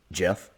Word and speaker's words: Geoff: all we have confirmed Jeff is how to pronounce his name so I'm going to give that a shot Jeff okay I think I think I nailed that